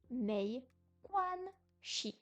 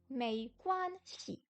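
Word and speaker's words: 没关系: Shi, pardon. En bas, le dos de la langue, non. La langue est en haut, mais le bout est en bas. Shi. Mei quan shi. Mei quan shi. Il n'y a pas de ton sur le si.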